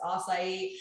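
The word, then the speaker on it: açaí: And I was like, it's acai.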